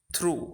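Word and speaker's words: through: বা পুরোপুরি dear viewers আমরা যদি প্রত্যেকটি ওয়ার্ড লক্ষ্য করি তাহলে দেখতে পাবো যে প্রত্যেকটি ওয়ার্ডের ভিতরে জি এইচ সাইলেন্ট রয়েছে যেটার কোন উচ্চারণ নেই আপনি যদি ওয়ার্ডগুলো থেকে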